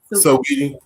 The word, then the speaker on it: Saweetie: Is it Saweetie? Saweetie or Saweetie? Sweetie. The rapper, the singer, R&B. I think it's Saweetie. Saweetie.